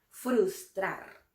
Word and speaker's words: frustrar: Esta palabra a veces puede resultar difícil de pronunciar incluso para algunos nativos que pueden llegar a decir frustrar. Y es que esta palabra tiene dos grupos consonánticos de bastante dificultad articulatoria. Frus y trar. Frustrar. Frustrar. Aquí la fuerza de voz recae en la sílaba trar. Es una palabra aguda.